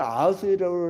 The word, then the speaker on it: 아하수에로: 근데 이거 우리 성경에서는 아하수에로라고 나오는데 그 뭐야 아하수에로란 말은 히브리식 히브리어 발음이에요.